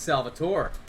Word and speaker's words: Salvatore: no you're a liar my name's salvatore okay oh we need all the syllables wow um yeah sal works too either way and i